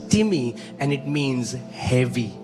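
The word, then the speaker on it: τιμή: टिमी इट्स इट्स इट्स the spelling is like time T आई एम ई बट it's pronounce S टिमी एंड it means heavy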